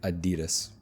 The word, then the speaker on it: Adidas: Another popular shoe brand, Adidas. And I know right now all of my European friends are cringing, but yes, we say Adidas.